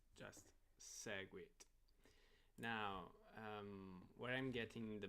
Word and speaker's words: Segwit: Okay, so it's just Segwit.